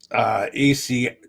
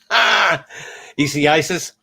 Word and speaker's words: Isaias: anything so far from Hurricane EC, come on, tongue. Hurricane Isaias. I had it right the first time. Isaias.